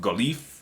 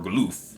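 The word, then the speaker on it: Galuf: I think his throwdown with Galif, or Galoof, depending on how you like to pronounce it, was awesome.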